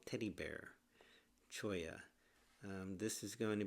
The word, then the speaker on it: Cholla: We are in Joshua Tree National Park, California, and we are going to discuss the Choya Cactus Garden.